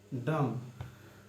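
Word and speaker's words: dumb: फिर टी लिखना है, टी दे दिए और ओ का उच्चारण सेकंड प्लेस पे दे दिए, रोट हो गया। इसी तरह आपका होता है डम, डी डी यू एम बी।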